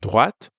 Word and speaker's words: droite: And make sure you're pronouncing the t sound at the end of droite. Ready to give it a go? Repeat after me. Droite. À droite.